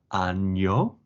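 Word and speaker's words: año: new Spanish student is the difference between ano year and ano which is anus because I once told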